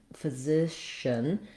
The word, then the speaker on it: physician: The important thing in physician in this word is that my stress and my length, my clarity is all on that middle syllable zishin. Whether or not your SH is on that syllable, it's probably actually starting the next syllable, but the idea is that you're thinking of this word as having a long middle syllable.